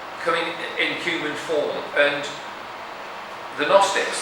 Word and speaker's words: Gnostics: And the Gnostics, that's one of these words where the G is silent, Gnosticism, they go, God can't touch matter.